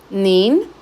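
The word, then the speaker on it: 您: Acá este es el segundo tono, mientras que en la diapositiva anterior era tercer tono. Entonces, estas pequeñas diferencias, tanto en el tono como el hecho de que tenemos una N al final, nin, cambia el significado ya.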